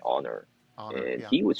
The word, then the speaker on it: Annor: And the fact that his name is spelled Annor, but like you say it like Honor.